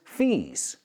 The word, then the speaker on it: fees: So, do they sound the same? Fizz and fizz. No, they don't.